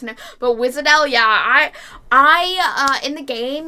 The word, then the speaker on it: Wiš'adel: Oh my god, Wiš'adel. I never know that's actually how you pronounce it, but Wiš'adel, yeah, I in the game, you know how there's the borrowing, like, friends unit thing?